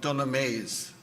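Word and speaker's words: Dunamase: The rock of Dunameese, I'll spell it.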